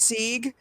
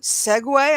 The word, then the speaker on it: segue: segue which you know for many years i pronounced sieg and then an old bow caught me saying siege and he said how do you spell that and i said s-e-g-u-e and he said oh you mean segway i'm like oh a